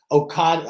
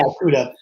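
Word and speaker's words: Okudah: We got Jeffrey Okada. How do you use your OSU boy, right? Jeffrey Okada for the Lions? Okuda? Yeah, Okuda.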